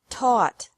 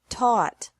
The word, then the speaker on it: taught: Taught. Taught. Think. Thought. Thought. Remember that the G is silent in these verbs.